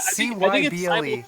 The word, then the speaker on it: Cyble: C-Y-B-L-E. Because it's like cyber, like cybernet, cyber.